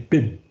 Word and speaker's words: Boehm: Orang itu namanya Barry Bim. Itu bacanya Boehm, itu bacanya Bim.